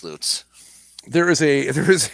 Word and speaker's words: Lutz: john mayberry road it's a town called l-u-t-z pronounce that for me oh uh lutz yeah but it should be watts it should be luts yes see that's that's what i'm talking about but it's not it's loots there is a there